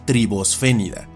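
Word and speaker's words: Tribosphenida: Pero si esta tercia aparece en el medio de la palabra, como en esta, Se sugiere que la S acompaña la pronunciación de la letra anterior, quedando como tribosfénida, y los miembros de este grupo serían los tribosfénidos.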